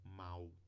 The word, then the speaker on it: mal: não tem diferença porque a gente mesmo escrevendo um l aqui no advérbio a gente pronuncia com ditongo mal né agora tem alguns